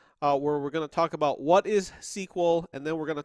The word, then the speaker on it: SQL: day time you know current day people talk about sequel they just call it sequel it's its own word but know that it is an acronym it stands for structured